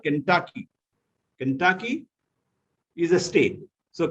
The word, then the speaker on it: Kentucky: familiar right yes yeah it is not kentucky it is the accent is on the second syllable it is called kentucky kentucky is a state